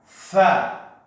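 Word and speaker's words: ث: And that is the letter Tha. The letter Tha. Can you say it for me? Tha. Tha. Now with the letter Tha, you've got to stick your tongue out.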